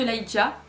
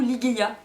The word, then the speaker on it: Ligeia: Donc ensuite j'ai vu La Tombe de Lygia, ou Ligeia, je sais pas exactement comment ça se prononce, mais toujours est-il que dans le film ils disent Lygia, donc c'est comme ça que je dirais.